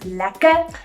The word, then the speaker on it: lekker: But the way we say it to make it slang, it's spelled slightly different at the end, and we say it without the R then, it says lekker.